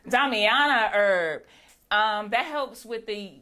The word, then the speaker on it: Damiana: The Damanami. I think they're over there. Did I say it right? Damiana herb.